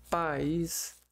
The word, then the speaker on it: país: Separando em sílaba. País. Aqui, ó. Essa aqui é uma sílaba, essa aqui é outra. Só que... Veja só. Separou aqui, ó. O A do I. Formou um hiato aqui, ó.